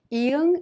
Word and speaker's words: 이응: Iung is silent when used as an initial sound such as in a and o. When used as a final consonant, however, it has the ng sound like in the word song.